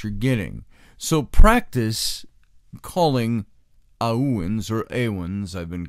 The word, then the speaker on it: Awen: that this is pronounced Owen aah - oh-oh - Ian ah when Owen with the emphasis on the ah so the Owen as